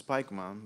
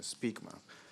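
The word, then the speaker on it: Spykman: I once pronounced his name Nicholas Spikeman, but somebody corrected my pronunciation that his actual pronunciation is a Speakman.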